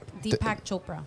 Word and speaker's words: Deepak Chopra: and then the seven spiritual laws is dead deepak chopra that that's how you pronounce it there you go defective yeah read